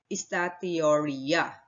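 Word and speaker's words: steatorrhea: are instead excreted in feces a condition called estatioria or let me spell it out for you s t e a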